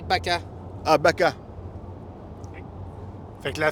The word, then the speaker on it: vaca: Le V en espagnol, c'est dit B. Ah! OK. Ah, Fait que le Tu veux? B, fait qu'une vache, c'est Bacchus. Ça Bacchus. s'écrit V-A-C-A, mais tu vas dire Baca.